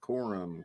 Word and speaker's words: Corum: Corum? Is that how you Cummings or No, it's Corum. Corum. Oh, that's how it's spelled?